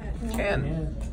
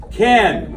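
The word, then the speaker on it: כן: say yes in Hebrew Ken Ken now that Ken and Barbie not cave there's no Cain in Hebrew it might interest you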